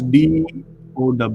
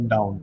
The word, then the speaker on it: Dow: How would you pronounce DOW? Dow or down? Dow. How do you pronounce what? D-O? W. Dow. Dow. So it's Dow, not down.